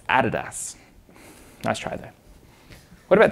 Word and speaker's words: Adidas: Can anyone tell me how to pronounce this? Adidas. Sorry? Adidas. Adidas. It's Adidas.